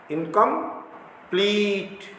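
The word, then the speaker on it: incomplete: अब इनकम्प्लीट में इनकम तक हमने इस पर बल नहीं दिया प्रोनाउंसिएशन में, तो ये दो इनकम यहाँ तक जो है अनिश्चित, और लीट, इनकम्प्लीट, ये जोर से।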